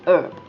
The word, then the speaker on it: herb: kind of interesting uh we drop the h and you can just say herb very interesting we don't